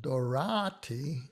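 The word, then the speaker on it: Doráti: next one is antal dorati and this also illustrates the ah versus the ah it's on tall without the accent dorati with the accent he was prominent conductor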